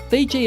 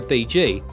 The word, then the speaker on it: Fiji: They called their home Viti, but the Tongans called it Fisi. It is by this foreign pronunciation Fiji, first promulgated by Cook, that these islands are now known.